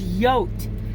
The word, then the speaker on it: yote: It says yote, like coyote, because that's how you pronounce that.